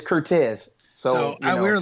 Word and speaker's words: Curtez: I we're like now now how do you say your first your first name it's ctez so so we were